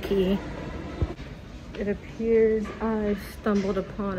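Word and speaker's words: Clarke Quay: thought by the way I'm probably going to continue to accidentally say it wrong so go ahead and take a shot or a sip of whatever it is you are drinking every time I say Quay instead of key it appears I stumbled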